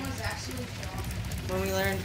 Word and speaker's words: Jacques: Or Jakey's. I called him Jakey's. I'm pretty sure he... So did you learn his name was actually Jacques?